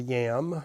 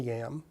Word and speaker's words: yam: This elaborate horse trail system is called the yam. It's just a transliteration of the Mongol word. It's spelled Y-A-M, just like our potato.